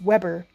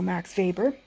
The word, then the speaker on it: Weber: It's pronounced Weber, but it's a W. So if you say Max Weber, I'm not going to mind, but I think it's German, so Max Weber.